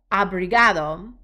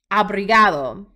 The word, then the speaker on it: obrigado: Obrigado. I'm going to say that one again. Obrigado.